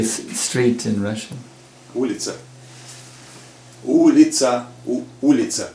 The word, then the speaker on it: Улица: Улица. Улица. Улица. Ulita?